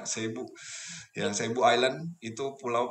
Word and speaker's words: Cebu: Tulisannya Cebu, bacanya Cebu.